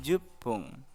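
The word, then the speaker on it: じゅっぷん: Menit ke-10 jupung.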